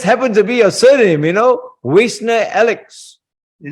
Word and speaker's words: Wiesner-Ellix: And how do you pronounce the second name? Wiesner or Wiesner? With great difficulty. Wiesner-Ellix.